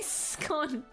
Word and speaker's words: scone: So the British pronunciation, how scone sounds like is S-K-O-N, so without hold on, not without the E. Well, I mean without the E, but like there's a K. S-K-O-N.